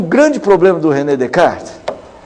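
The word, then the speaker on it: Descartes: dec é isso né descart descart mas com o s não pronuncia o ren descart que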